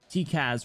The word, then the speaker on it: TCAS: TCAS rhymes with Sarkaz.